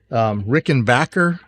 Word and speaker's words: Rickenbacker: And this is a 1934, I think, Rickenbacker, not Bacher.